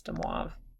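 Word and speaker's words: De Moivre: French not as much I'm pretty sure that's de moi so demas theorem okay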